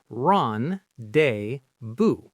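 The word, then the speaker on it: rendezvous: So we say ron day, boo, right? The ren sounds like ron, the dez sounds like day, and the vu sounds like vu. The z and the final s are silent just like in French.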